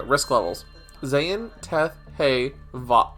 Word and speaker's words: Vav: Zayn, Teth, Hey, Vav. It's pronounced Vav and not Wah.